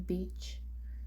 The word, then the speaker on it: beach: Example: E-A in beach. So E will be pronounced while A will be silent. So this will be pronounced as E, beach, beach.